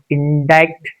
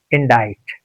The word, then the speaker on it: indict: It's not indict. It's indict. And it has the shade of sha sound, sa sound, and ka sound.